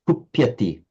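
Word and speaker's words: कुप्यति: Be extremely careful about the lengths of vowels. There's occasional tendency, again, lots of people have it, to pronounce this short a as a long, if it's, you know, so you said something like kupyati, it's kupyati.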